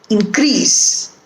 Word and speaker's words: increase: in for syllable and when it is used the second time it is used as a verb and the syllable that is stressed is the second syllable increase another example the weather